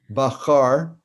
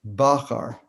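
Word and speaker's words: בחר: So sometimes a Siddur will give you this vertical line next to the vowel to tell you where the accent is if it's not the last syllable. So that's telling you the fourth to last word, that the word is not Bachar, the word is Bachar.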